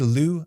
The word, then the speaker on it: Loup: But this should be pronounced Loup, as in Lou, like L-O-U in English. And that's because this is a French word, just like his name implies.